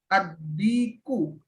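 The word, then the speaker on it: الديك: Ad-diku. Dikun. Ad-diku. Ini salah ya, bukan fathah ini. Oh, itu tasdid ya. Iya ya, ad-diku. Ya, ad-diku. Ini bukan Ini di sini kayak fathah, tapi bacanya ad-diku.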